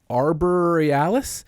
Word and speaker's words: Aurora Borealis: play on Aurora Borealis it is arboris like the word Arbor and then e a l i s hell of a way